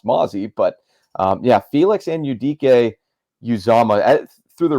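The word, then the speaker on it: Mazi: We were rolling along well once we I think there are a lot of people who maybe don't know it's pronounced Mozzie, but Felix Anudike-Uzomah.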